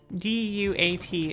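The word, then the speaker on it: Duat: Do you not know that this area is named Dyat? I didn't mean to say it like that. D Y A T is the name of this area. Dyat.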